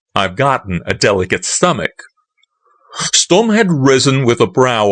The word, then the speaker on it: Sturm: "Why, it's Colonel Sturm," he cried. He pronounced it like the first syllable in stomach.